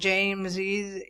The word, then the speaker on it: James's: There it is pronounced Charles's and James's if you want. If not, it can be Charles and James, but you still are using the possessive case.